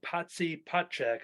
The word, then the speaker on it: Potchak: Rob Potchak. Is that how, am I pronouncing that correct? Yeah. Yep.